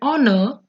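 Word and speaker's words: honour: front of R and honor, which are starting with H, which are not vowel, I am using N because here H is silent and sound of O is coming, which is vowel sound.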